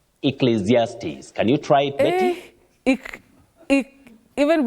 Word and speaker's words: Ecclesiastes: anyone to pronounce but this one you say e then zes Ecclesiastes Ecclesiastes can you try it